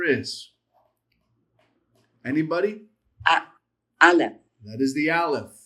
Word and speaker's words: Aleph: Aleph. That is the Aleph. The Aleph, which has no sound. It is silent.